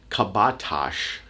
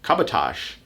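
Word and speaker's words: Kabataş: than what you'd think one subway line was called kabatash kabatash and it's spelled katabas for how my brain would hear the sounds in the letters sit together and when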